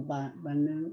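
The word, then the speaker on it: בנו: Banu. The accent's on the first syllable. Banu.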